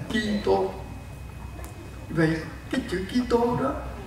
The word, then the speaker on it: Kitô: Cách phát âm, mình phát âm theo tiếng Latin, chữ Christus, Christo, mình không đọc chữ S được, thì ngày xưa đã phiên âm thành Kitô.